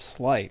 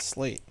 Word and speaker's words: Sleight: Then it's Slight, not Slate. It is pronounced Sleight, but yeah, it doesn't matter.